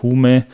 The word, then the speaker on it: HVME: form eines künstlernamens hvm aber ich glaube das wird ausgesprochen also humer das v soll das